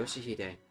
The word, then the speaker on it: 요시히데: 요시히데라고 읽는 거다. Yoshihide.